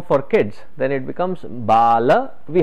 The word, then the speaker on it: Bala: we say it is baal vihar the moment you say baal vihar it is a sanskrit word or you understand it in hindi baal in hindi means hair so you probably will